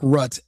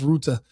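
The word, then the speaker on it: Rutte: And it's Mark Rut, not Mark Rut. Everyone in America has been calling him Rut today. They they they don't speak I think he's Austrian or German. They don't speak. They They can't pronounce Ruta. They don't understand that that's what it is.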